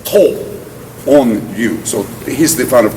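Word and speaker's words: Tōon-ryū: from his teacher's name to use what they call the alternative pronunciation, the onyomi as opposed to the kunyomi, to call it Higaonna style karate. But instead of saying Higaonna, the onyomi pronunciation is To On-ryu.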